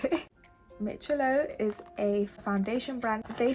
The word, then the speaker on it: Miccilo: I literally made sure I researched how to pronounce it mitchello is a foundation brand they sent me three